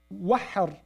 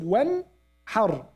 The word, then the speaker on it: وانحر: They don't say wahhar. They said wanhar. They say noon clearly and the ha clearly. Wanhar. Wanhar.